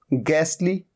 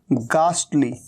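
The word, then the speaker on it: ghastly: जब इसे गास्टली कह रहे हैं तब तो देखो टी साइलेंट नहीं है, लेकिन जब इसे गैसली कह रहे हैं तो टी भी यहां पर साइलेंट है।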